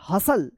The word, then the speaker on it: hustle: क्या पढ़ेंगे इसको, अपोसल, अपोसल, टी साइलेंट रहेगा। BUSTLE, क्या पढ़ेंगे, बसल, बसल, BUSTLE, बसल। HUSTLE, हसल।